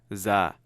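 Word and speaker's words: ز: Put a dot on top, and now you literally get our Z. Za. Okay? Ra, za. This is literally your letter Z. Kind of same way you pronounce it.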